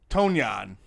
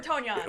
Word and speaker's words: Tonyan: Everyone pronounces No, that name I differently. prefer Tonyan. We like to say it. It's kind of like Funyun. Funyun. Tanyan, we're from Chicago. No, it's like Funyun.